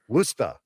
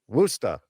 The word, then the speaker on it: Worcester: Worcester. Worcester. Woosta. Woosta.